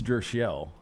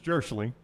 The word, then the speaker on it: Jirschele: I told Brown right before we came out, I think it's Jirschele. It's Jirschele. I'm just going by the pronunciation I've been given by the Birmingham Barons.